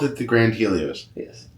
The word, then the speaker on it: Helios: Um, and then behind where your picture is being taken, you have the new grand is it Helios? Is that how it's pronounced?